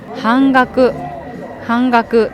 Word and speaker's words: 半額: 半分、半額と読みます。